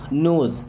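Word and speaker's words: knows: नोज, अब यहाँ पे के साइलेंट होगा।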